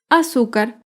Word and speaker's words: azúcar: Azúcar es una palabra grave y se acentúa en la penúltima sílaba.